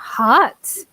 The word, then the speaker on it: heart: I make confusion with the pronunciation of heart and earth.